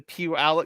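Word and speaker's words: Puyallup: So did did I do the pew alo Yes you did Cassie and you did it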